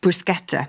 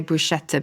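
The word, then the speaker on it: bruschetta: well first of all you are pronouncing it correctly with brusketa a lot of people say brushetta but actually it is a hard case I think that governs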